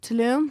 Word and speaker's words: Tulum: I think it's called I think I've been saying wrong time I think Tulum tum Tulum Tulum is the right way to say I think is that just